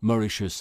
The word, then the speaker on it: Mauritius: de mauri de sioux ce qu'on prononce mauritius à la britannique désormais les trois masques